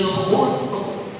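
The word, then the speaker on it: خسر: Wal asr innal insana lafi khusr. Bukan khus, dia tetap ada roknya.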